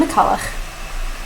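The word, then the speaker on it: McCullough: I refuse to pronounce this in any way other than the most Scottish way. So, Colleen McCulloch, like Ainsley, for those of you who have seen my most recent wrap-up.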